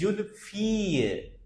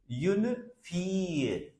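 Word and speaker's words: fille: Keep in mind that except a few words, double L will be pronounced like just Y. It can't be unfile or unifile. No, it is unfie. Unfie. Its pronunciation is like fee, a girl.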